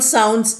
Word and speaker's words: sound: Now O-U is written, there are 2 symbols, O and U, but the pronunciation is only a single sound, ow. Ow is a vowel, it's a diphthong, that means double vowel sound, but it is considered as a single vowel.